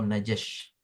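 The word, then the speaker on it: نجش: Hari ini kita akan belajar jual beli yang diharamkan, yaitu jual beli najash, nun jim shin ya. Nun jim shin atau najash.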